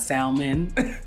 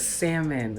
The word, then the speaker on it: salmon: my people out there that still pronounce the L and salmon did you notice we didn't please know that it's not salmon it's salmon okay I just wanted